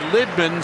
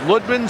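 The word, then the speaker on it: Lydman: all the way down it used to be Tony Litman someone asked him how his name should be pronounced he's from Finland he said it's ludman so now it's Tony ludman and there's a lot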